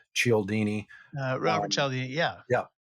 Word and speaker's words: Cialdini: Cialdini.